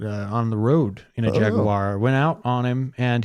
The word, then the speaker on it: Jaguar: Speaking of Jaguar. Jaguar. Jaguar. You have to say it like you have money.